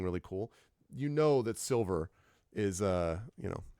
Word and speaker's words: Silvyr: this does have uh it is silver Tower and it's important to note it is spelled by the adventure designer s i l v yr so to be clear silver okay like very very